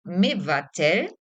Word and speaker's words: מבטל: So levatel, and present tense is mevatel.